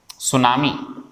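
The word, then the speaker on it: tsunami: और भी होते हैं, जैसे एक शब्द सुनाऊं मैं आपको, ये सुनामी, ये जीके में पढ़ लिया होगा आपने, टी साइलेंट होता है इसके अंदर।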